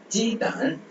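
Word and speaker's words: 鸡蛋: so இங்க d வர j-i-g as usual நம்ம இங்கிலீஷ் சவுண்ட் மாதிரியே இருக்கும். d வர்றதுனால அந்த d வந்து அந்த the சவுண்ட். அப்புறம் an தான். so the d வந்து the மாதிரி ப்ரொனவுன்ஸ் பண்ணுவோம். so தான்.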